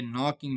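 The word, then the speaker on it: knocking: यहां पे नॉकिंग में के साइलेंट है और सी साइलेंट है।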